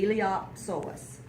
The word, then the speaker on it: iliopsoas: do you fountain Ilyasova the P is silent and i think the